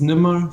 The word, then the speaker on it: Nimer: Is it pronounced Nimer? Yes, it's Nimmer, so it's Arabic.